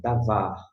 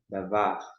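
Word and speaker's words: דָּבָר: Nós temos o vocábulo davar, de com a, dá, vete com o a, vá. E aqui, uresh, davar. Algumas pessoas fazem o R mais tribulado, como eu costumo dizer, eu não consigo em hipótese alguma. Mas fique à vontade para pronunciar com essa tremulação.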